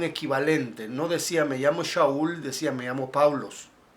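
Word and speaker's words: שאול: Su correcta pronunciación, la pronunciación original es Shaul, igual que el nombre del primer rey de Israel, Saúl.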